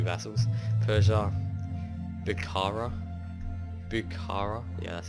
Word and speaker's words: Bukhara: But I got Greece, I got my 2 vassals, Persia, Bukhara, yeah, that's how you pronounce it, Kalat, Punjab, Sokoto.